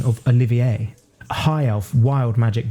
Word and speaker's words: Olivier: My friend, playing Oliver, who was insistent on the pronunciation of Olivier, a high elf wild magic barbarian who believed themselves to be a powerful mage like the rest of their family.